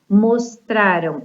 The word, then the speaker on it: mostraram: Mostraram é uma forma verbal onde a sílaba tônica é a penúltima sílaba, ela é uma paroxítona, é mostraram. Já quando o verbo, ele usa a terminação ão, né, do futuro, mostrarão.